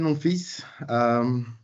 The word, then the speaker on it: Monfils: My name is Stéphane Monfils. If you're interested, Monfils is French for my son, and the L is silent.